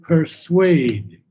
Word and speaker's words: persuade: What is it to persuade? Second syllable, persuade.